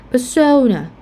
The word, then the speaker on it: persona: So in this case, you are going to pronounce the second syllable stressed. For example, persona, or aroma.